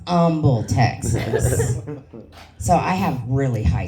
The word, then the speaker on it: Humble: So it's pronounced Humble, Texas.